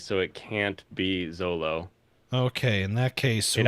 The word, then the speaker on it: Zoro: Problem is when they pronounce Zoro as Zolo. It brings up the rage. Well, yeah, because it is Zolo. That's what it is in the book. It's Zolo. There is no L in Japanese, so it can't be Zolo.